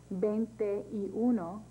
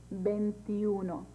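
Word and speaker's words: veintiuno: one to twenty nine for these numbers instead of saying bente uno or 21 or bente for 22 you would say bentiuno remember this only applies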